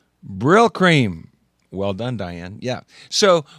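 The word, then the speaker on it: Brylcreem: give you a hint it rhymes with dill dream anybody anybody brill cream yep hair care product right brill cream well done diane yeah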